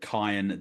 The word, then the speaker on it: Cian: It's pronounced Cian, not Cian.